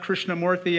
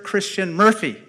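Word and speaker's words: Krishnamoorthi: I said, my name is Raja Krishnamurthy, and the person in Chicago looked right back at me and said, Roger Christian Murphy. And so it's lovely to be here, and from an Irishman by mispronunciation to an Irishman by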